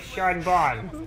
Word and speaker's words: Sean Bean: Spelled like Sean Bean, but it was pronounced like Sean Bon. Like Bon Bon, but it's Sean. But Bon.